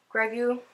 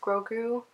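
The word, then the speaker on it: Grogu: we are joined by greu or I'm pretty sure it's pronounced Gru but greu sounds cuter it's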